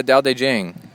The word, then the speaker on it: Tao Te Ching: Let's talk about the uh Da De Jen is I think the way you say it.